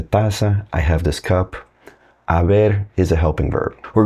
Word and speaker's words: haber: And the verb that we use in Spanish for that is haber. Starts with an H, but the H is silent.